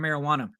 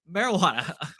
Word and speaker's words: marijuana: It's a word that's commonly mispronounced because there is that sound versus the wah sound. Like, the wah sound is not in there.